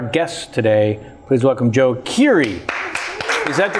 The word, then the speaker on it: Keery: but certainly our guest today please welcome Joe Curie is that the correct pronunciation just tear it tear it yes it